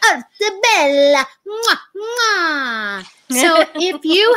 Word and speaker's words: Arte Bella: You have to say it like you're Italian, so you have to do the hands and say Arte Bella.